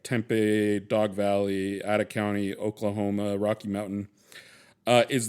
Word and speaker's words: Ada County: It's actually pronounced Ada County. It's pronounced Ada.